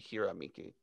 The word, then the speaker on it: Hirameki: it written so well if it's japanese you pronounce all the vowels in the same way all the time so it would be hiramiki hirom meki tyler and i had